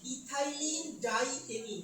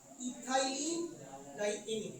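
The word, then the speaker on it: ethylenediamine: এটা হচ্ছে ইথাইলিন ডাই এমিন। কি উচ্চারণটা? ইথাইলিন ডাই এমিন।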